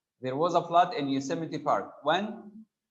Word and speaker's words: Yosemite: park yosemite park california yosemite this is how we pronounce this word guys yosemite if such words as